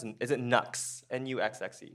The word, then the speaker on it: NUXXE: So the first one is, what is, how do you pronounce it? Is it NUXXE? N-U-X-X-E? NUXXE.